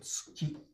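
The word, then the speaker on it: 月: T in front of U, always pronounced as ts. So tsuki, it's in between two unvoiced consonants. So it's unpronounced.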